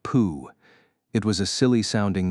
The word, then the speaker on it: PoH: The man's name was spelled PoH, but pronounced Pooh.